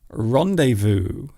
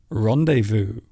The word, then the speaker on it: rendezvous: So we don't even change the meaning or the pronunciation. We still use the actual French word. And it does happen quite often. I suppose some good examples would be rendezvous, rendezvous, A rendezvous is